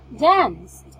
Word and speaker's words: danced: Also for C, danced. For danced, we are pronouncing T, right? Instead of ED.